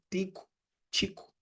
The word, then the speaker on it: Tycho Brahe: um dinamarquês chamado de Tycho Brahe, né? Tycho Brahe, a gente pronuncia, alguns pronunciam Tico, Tycho Brahe, Tycho Brahe, enfim,